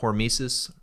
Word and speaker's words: hormesis: Last thing I want to say, we talked about hormesis, right?